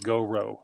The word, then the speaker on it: Goro: And um, so, but it's you pronounce it like go row, like go go go row your boat.